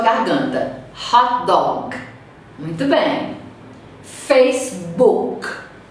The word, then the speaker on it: Facebook: Facebook. O K termina na garganta. Eu não vou pronunciar Facebook.